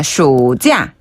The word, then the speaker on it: 暑假: 여름 휴가, 여름 방학은 暑假. 시우가 아니라 슈네요, 이거는. 네, 슈예요. 슈자, 한 번 더. 暑假. 슈자. 네, 이때 슈 발음하실 때는 혀를 조금 말아가지고 살짝 말린 발음으로 슈, 쇼, 슈.